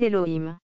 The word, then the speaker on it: Elohim: ainsi que dans le système massorétique alim se prononce Elohim cette prononciation là est retenue par la langue